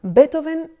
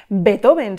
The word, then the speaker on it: Beethoven: empezar para recordar que el nombre de nuestro protagonista no se pronuncia, como solemos decir en castellano, Beethoven, sino que la pronunciación correcta de su nombre y apellido es la siguiente: Ludwig van Beethoven.